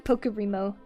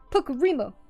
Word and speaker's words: Pocaro: Oh, I got the name wrong. It's okay. I'm Pocaro. Pocaro. Pocaro. That's me.